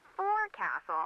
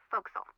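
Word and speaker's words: forecastle: ship, but it's pronounced folks. Why is that? Try pronouncing it like an English sailor with no formal education.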